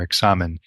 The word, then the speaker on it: examen: Now, this word examine itself is just the English pronunciation of the Spanish word that St. Ignatius used for this form of prayer, examen, in the Spanish, and we just say examine.